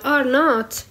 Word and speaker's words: R0: الناس لو مش مطعمين، راه لما نحكي على الـ R not هي الـ R0 يقولوا لها R not نطقها، إنه قداش يعني واحد مريض قداش بيدعي من الناس اللي مش مطعمين.